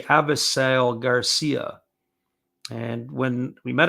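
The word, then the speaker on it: Avisaíl: So we asked Garcia how he says his name, and he said his name was Avisail. So Avisail Garcia. So that's how he pronounces it, which I thought was very interesting.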